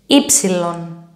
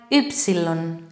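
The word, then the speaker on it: ύψιλον: Ypsilon. You have heard it like ypsilon. Wrong pronunciation.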